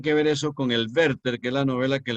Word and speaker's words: Werther: No digan Werther porque no es inglesa, es alemán.